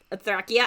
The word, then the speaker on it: Thracia: Or when you pronounce Thracia, you say Thrakia.